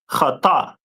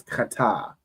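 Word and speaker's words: חִטָּה: But Ira, so if you could go through the Hebrew word for wheat, the Hebrew word for wheat is pronounced in Hebrew as kata. No sign Christ. So wheat in Hebrew is kata.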